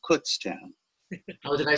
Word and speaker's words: Kutztown: know the town where keith is from is pronounced kutztown not kutztown it's kutztown i'm from that area i grew up there um and went to school there actually so it's pronounced kutztown oh did i say it incorrectly okay thank